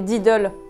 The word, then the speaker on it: Diddl: prononcer comme nom he mais en fait c'est didle comme Lidl mais avec un D ne me remerciez pas